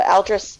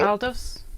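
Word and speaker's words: Aldous: Uh Aldrris Huxley. He wrote uh Brave New World and he Oh, really? Is it Aldis? Aldis, sorry. Aldos.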